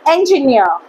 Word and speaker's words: engineer: ending with eer and the e rer is pronounced as ear. Okay. So auctioneer auctioneer domin commander commander commander engineer engineer engineer engineer.